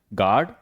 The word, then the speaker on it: guard: अगला है गार्ड, GUARD। देखिए, यू के पहले जी, उसके बाद स्वर। ठीक है, जब भी पहले क्या आता है? जी होता है, उसके बाद स्वर आता है, यू क्या होता है? साइलेंट।